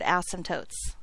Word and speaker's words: asymptote: number one number one we are not going to unnecessarily stress the first syllable of the word asymptote okay number two we're